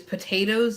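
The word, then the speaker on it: Potoooooooo: his name basically is potatoes it's like pot and then the number eight and then there's eight o's and his name is potato i am so sorry the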